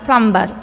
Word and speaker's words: plumber: Last one, plumber. Plumber. In this word, L is a silent letter. L is silent letter.